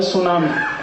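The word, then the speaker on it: tsunami: में एक शब्द है सुनामी कैसे लिखते हैं टी एस यू एन ए एम आई बोलते क्यों नहीं टी सुनामी टी सुनामी टी सुनामी कहते जी टी साइलेंट है तो लगाया क्यों हटा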